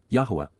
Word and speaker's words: Yahowah: Yahweh Yahwa the proper pronunciation of the name of Eloha God as directed in his Torah.